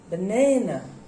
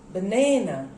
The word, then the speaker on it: banana: how many syllables are there three there are three syllables and where do you put the stress banana banana so you put the stress here you put the stress here this is the straightest syllable here this is the word and you put stress on this syllable okay this that's it